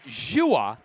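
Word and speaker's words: Dewar: Jua's name pronounced nothing like it's spelled spelled d e w a r pronounced joua darn Australians anyways as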